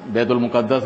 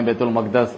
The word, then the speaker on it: بیت المقدس: بیت المقدس جو ہے، بیت المقدس لوگ کہتے ہیں، بیت المقدس اس کا صحیح تلفظ ہے، فلسطین میں ہے، اور